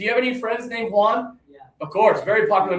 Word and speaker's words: Juan: Do you have any friends named Juan? Of course, very popular name. Put up one finger, everybody, Juan.